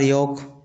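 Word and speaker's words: yolk: उसी प्रकार योक योक को भी इस प्रकार से लिखते हैं। इसमें भी एल साइलेंट हो जाता है।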